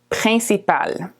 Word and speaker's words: principal: Principal. Okay? The IN is a nasal vowel.